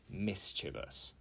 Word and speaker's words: mischievous: salad with quinoa yesterday okay number four is mischievous mischievous it is not Mis mischievous it is mischievous for example oh my cat is very Mis mischievous I nearly pronounced it wrong there and the definition is